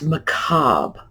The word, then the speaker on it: macabre: It's macabre or macabre. It's not macabre. And macabre is what we as English speakers ordinarily do with a French word that comes into our language with that RE suffix.